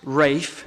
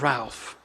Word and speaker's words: Ralph: refer to him as Rafe this evening definitely Rafe and not Ralph and I suppose it's